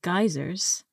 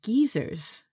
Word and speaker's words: geyser: from the US said geysers and I would say geezers for this word it comes from Icelandic because in Iceland there